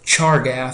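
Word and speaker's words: Chargaff: So our first one is a rule by a guy in the name of charg is how you say that pretty much just how it's or just how it looks and he said that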